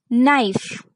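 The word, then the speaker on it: knife: सिर्फ के से स्टार्ट नहीं होता एन से होता है तो आप यह ध्यान में रखिएगा नी का मतलब है घुटना यानी गुड़गा नाइफ नाइफ का मतलब है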